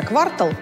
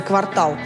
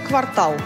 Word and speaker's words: квартал: потому что отчитаться за квартал нельзя можно только за квартал словаре не дают нам никаких поблажек только квартал других вариантов нет подсказывает нам и поэзия заболотский рифмовал квартал существительным интеграл а пастернак с глаголом